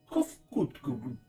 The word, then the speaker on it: Kofkutku: As for nomenclature to address my individual person, I believe it would be pronounced Kofkutku.